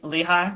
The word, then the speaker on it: Lehigh: you mentioned yeah eastern Pennsylvania it's um the Lehigh Valley that's what's called Lehigh yeah so uh um Bethlehem Allentown Easton if